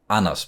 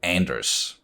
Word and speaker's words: Anders: I'm like, oh, that's Anders, because it's a very typical Danish name. Whereas, if you pronounce it in English, you don't, it's not a soft D, it's more of a hard D, so Anders.